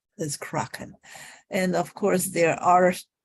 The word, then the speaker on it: Kraken: the kraken uh kra it should be pronounced the croc instead of crack okay uh because it's about um north european country culture the mythology of the northern people so it's pronounced as kraken and of course there